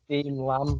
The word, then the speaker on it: Lamb: It's Dean Lamb. Dean Lamb, spelled like lamb as in the animal.